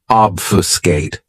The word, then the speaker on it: obfuscate: my favorites is obfuscate this verb has three syllables and the stress is on that first syllable obfuscate what it means to